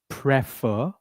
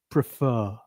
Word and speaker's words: prefer: word and people say prefer. It's not prefer it's prefer. So the stress is on the second part of the word.